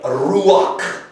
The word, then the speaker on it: ruach: If I were to tell you how to say the word spirit in Hebrew, I would start out with that glyph, ruach.